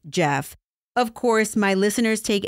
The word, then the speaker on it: Geoff: Last week, I referred to one of the suspects as Geoff because his name was spelled G-E-O-F-F. But guess what? Silly me, it's actually pronounced Jeff.